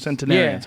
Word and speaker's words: centenarians: Centurions, how do you say it? Centurions? Centenarians? Centenarians. Yeah. I think it's centenarians, yeah.